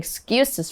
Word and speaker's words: excuse: It's the word excuse. Chicklin, can you tell us more? Yeah, 那我们今天看今天第一个单字 Excuse 就是理由或借口的意思，我们在文章中是当名词哦，所以编理由啊的动词就是 make。你可以讲 to make excuses，所以你可以说 stop making excuses for being late，不要再为迟到编理由咯。那么 excuse 这个单字呢，也可以当动词，不过当动词呢会变 excuse，它的发音有点不一样，它是原谅或宽恕的意思。所以呢，我们有一个常常讲的就是 excuse me，就是打扰一下。礼貌性的询问或失陪的意思，所以比如说你在路上找不到火车站在哪里，你就可以说 Excuse me, could you